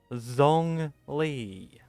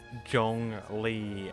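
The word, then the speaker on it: Zhongli: There's no J. Where's the J? It's not there. That is Zong Lee.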